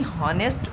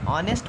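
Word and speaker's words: honest: ही is very हॉनेस्ट मैन, इसको हॉनेस्ट नहीं ऑनेस्ट पढ़ते हैं, ये एच साइलेंट रहता, ऑनेस्ट।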